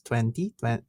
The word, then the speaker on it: Twente: You've been freelancing while you were at the University of how do I pronounce this? Twente, yeah. Twente.